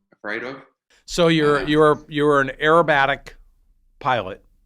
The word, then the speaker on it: aerobatic: So you're an aerobatic pilot. Did I hear that right? Acrobatic? How do you say it? Aerobatic. Aerobatic. Okay.